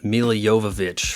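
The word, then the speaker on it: Milla Jovovich: diversity is our strength guys and when women do get involved in the action it's reasonable they don't become Mila Jovovich from Resident Evil yes I pronounce that right you can't find another Channel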